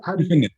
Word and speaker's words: Finfinne: But how do you say Finfinne? How do Finfinne?